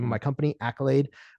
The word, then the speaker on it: Akylade: name of my company, Accolade. Accolade is spelled a little weird. It's AKYLADE. And the reason that is spelled weird and not like accolade, like applause, right, is because I want to be able to trademark the name.